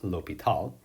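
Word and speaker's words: L'Hôpital: favorite mathematical theorem that looks like hospital but is actually pronounced l'hopital we're gonna ever remember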